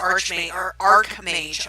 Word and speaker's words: Archmage: It's Arc like A-R-C, not Arch like it's spelled. Which I think is weird. You know, why is it the way it is? Why isn't it said the way it's spelled?